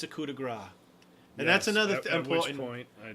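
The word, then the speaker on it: coup de grâce: people unless it's a coup de Gras and that's another point I just shoot their ears that's another important DMing rule it's pronounced coup de gras yes not copy - grace if anybody says anything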